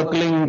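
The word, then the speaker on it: क्लीं: की मात्रा और बिंदी, उसका उच्चारण होगा क्लिंग गा। गा की ध्वनि निकलेगी पीछे।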